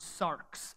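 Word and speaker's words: σάρξ: uses the Greek word the root Greek word Sark's SAR X so you spell that and the idea here is that it's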